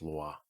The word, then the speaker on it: Louis: I'm pretty sure it's not Meet Me in St. Louis. It's pronounced Louis.